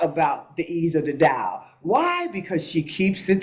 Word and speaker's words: Tao: the ease of The Da and Tao is how it's spelled it's pronounced da not Dow Jones but the da meaning